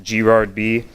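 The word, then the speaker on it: grardb: is gerard my twitter handle is g-r-a-r-d-b it's pronounced g-rod b uh that's my email and we're hiring and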